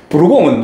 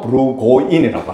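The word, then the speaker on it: Burgoyne: 부르공은 누구냐? 부르공은 프랑스어입니다. 실제로 이 사람의 이름은 영국 발음은 존 브루고인이라고 합니다.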